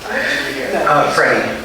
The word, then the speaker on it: Freddie: Freddie. Yeah, rhymes with Teddy.